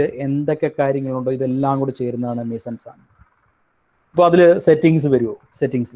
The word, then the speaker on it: mise-en-scène: Okay, next we come back to, നിങ്ങളെല്ലാം ഒരു പക്ഷേ കേട്ടിട്ടുണ്ടാവും, ഇറ്റ്സ് A difficult phrase, a difficult term called mise-en-scène. It is spelled M-I-S-E-N-S-C-E-N-E.